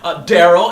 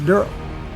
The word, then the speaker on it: Merle: And he plays Daryl. And it's spelled D-E-R-L-E. It's not Daryl, it's Daryl. Please get that right.